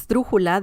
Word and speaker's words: esdrújula: a struggle a word because we have the he this syllable is the third to last one so it's so this is the last one then this is the second and this is the third one so yeah it's crazy